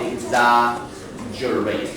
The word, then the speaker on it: exaggerate: Yeah.So here, number 8, this word on the second last syllable is exaggeration. Yeah, 所以这地方的动词把 tion 拿掉，exaggerate，重音会变成在第2个音节哦，所以可能要标一下。这个地方 exaggeration，可是动词的话变成第2个音节 exaggerate，在 add 上面，it's okay.